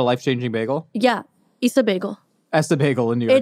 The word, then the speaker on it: Ess-a-Bagel: Essa Bagel in New York. It's Issa it's Bagel.